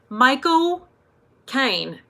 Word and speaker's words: Michael Caine: Michael Caine.